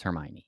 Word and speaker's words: Hermione: Am I mispronouncing it? Yeah, it's Hermione. Whatever.